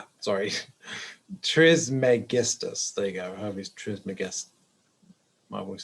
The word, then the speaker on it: Trismegistus: There you go, Hermes Trismegistus.